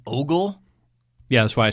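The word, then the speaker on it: Åberg: you know my but the first letter is an a with that weird Circle over the top of it so it's apparently pronounced as an O um and then hom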